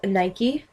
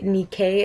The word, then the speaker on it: Nike: i should say um this is nike actually nikkei is how you pronounce it she's the greek goddess